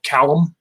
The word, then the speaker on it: Callum: One that's a little bit different on pronunciation is a former Marine named Rod Callum, C-A-L-L-U-M. But obviously, to my narrator, pronounce it however you want.